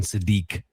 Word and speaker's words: Sadiq: It is it is pronounced Kenyon Sadi, not Sadic.